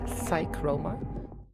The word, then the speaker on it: Psychroma: Übrigens im Englischen, das P spricht man nicht. Psychroma.